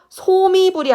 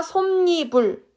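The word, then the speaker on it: 솜이불: 그래서 소미불이 아니라 솜니불 이렇게 발음을 한다는 거죠.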